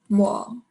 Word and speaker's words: 뭐: Okay, 뭐. So this one is like 워. Without the M, it would just be W-U-H, 워. But you put an M, so it's going to be 뭐.